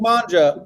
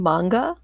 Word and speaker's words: manga: mangia about soldiers trained or sorry this classic manja about soldiers trying to find the silver crystal meets this denny's breakfast all-star this classic manga no i just need a clarification is it you mean manga manga sorry yes this classic manga about soldiers